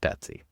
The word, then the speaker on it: BTSEY: So, this is the Betsy fix or BTSEY and I'm pronouncing it Betsy.